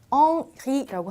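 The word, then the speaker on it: Henri: 자, 우리 헨리라는 불어의 이름은 엉리라고 합니다. 왜냐하면 H의 발음이 없기 때문에.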